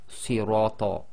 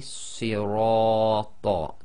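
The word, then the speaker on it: صِرَاطَ: You cannot say sirata. It must be sirata, too long.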